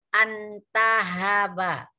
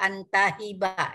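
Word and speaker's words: انتهب: Antahaba. Ya. Bacanya antahaba, jangan dibaca-baca antahiba ya.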